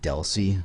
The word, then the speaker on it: DLCI: identifier uh you'll see the abbreviation is dlci it's almost exclusively pronounced Deli and it's going to